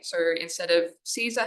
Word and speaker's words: Caesar: So instead of Caesar, how we pronounce it in English, it would have been pronounced something like Kaiser, the hard K sound at the start.